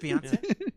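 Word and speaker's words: Beyoncé: That is how you pronounce it, right? No, you got it. You nailed it. Beyonce.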